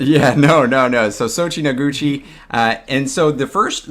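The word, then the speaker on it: Soichi Noguchi: you i thought you had a hard time pronouncing it yeah no no no so sochi noguchi uh and so the first the the one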